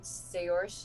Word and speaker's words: Saoirse: Yeah, I'm going to Bardic Inspiration Saoirse. I never think I'm pronouncing that right. Saoirse. You're close. Saoirse.